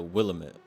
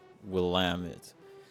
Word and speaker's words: Willamette: I call it the Willamette, but people laugh at you when you say it like that. So, Willamette.